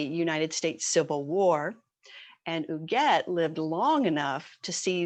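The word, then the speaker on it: Huguette: our diamond diva this month her name is uget clark it's spelled h-u-g-u-e-t very french last name was clark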